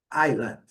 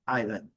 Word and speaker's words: island: Island, tranquilo também, muita gente comete essa falha de pronunciar o R. Mas aqui está bem clássico. A primeira sílaba forte, island, island.